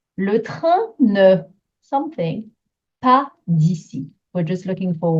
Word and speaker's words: pas: I hope you can hear part and pas being a little bit shorter, both with silent letters at the end, a silent S, a silent T, quite short.